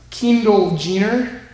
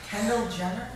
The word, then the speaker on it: Kendall Jenner: is this young woman named I think it's pronounced kendle giner K kle Jer you guys know kle Jer yeah you guys are laughing Kendall Jenner oh Kendall Jenner Kendall Jenner yeah do you